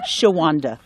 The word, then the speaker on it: Chi-Wan-Da: gooni kind of name it's a sh it's pronounced Shanda and it's it's it's an Indian name you